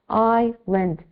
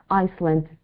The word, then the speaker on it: island: the pronunciation is ient iand it's not Iceland we don't pronounce the S we say like Ireland okay okay okay some